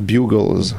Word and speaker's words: Bugles: Ça se prononce Bugles. Bugles. Parce qu'il y a juste un G.